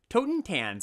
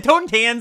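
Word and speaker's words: Totentanz: tokens and swarm Piper Toten Tans I said it wrong tone tan swarm paper or another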